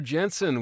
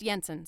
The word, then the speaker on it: Jensen: from Admiral well Commander Jensen we've got a mission for your unique talents it's pronounced Yensen sir it's Norwegian I hope it's more